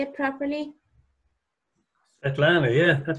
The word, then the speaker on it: Svetlana: Svetlana. Is that how you say it properly? Svetlana, yeah.